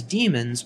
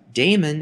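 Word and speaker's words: daemons: the modern spelling however the pronunciation is the same Damon is incorrect even though many people mispronounce it now the C code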